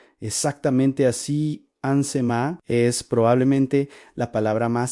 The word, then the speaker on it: Shemá: Hoy Ainsemá se pronuncia exactamente así. Ansemá es probablemente la palabra más sagrada para el pueblo hebreo, el inicio de su oración diaria más importante.